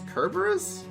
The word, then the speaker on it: Cerberus: Oh, for me, I call it Cerberus. But for some people, maybe it's Kerberos?